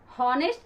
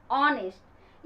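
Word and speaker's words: honest: पर भी लगाना है एन, ऑनेस्ट, हॉनेस्ट नहीं, ऑनेस्ट।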